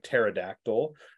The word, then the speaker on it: pterodactyl: is is ancient and the Terex with the silent P you can think of like pterodactyl has a silent P at the beginning PT pterodactyl uh for instance uh